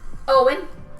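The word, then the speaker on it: Eoghan: That's Uh, spelled like Eoighan. Owen.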